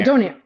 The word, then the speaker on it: donair: Is it pronounced donair or donair? Yeah, donair.